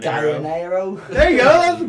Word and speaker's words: Gallinero: Gallinero. Gallinero.